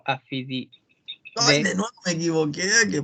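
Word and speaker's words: Aphididae: La familia es Afidide. Lo voy a escribir aquí, en el chat. Ahí está. No me equivoqué, era sin Y, perdón. Siempre la AE se pronuncia en inglés como E nomás, ¿ya?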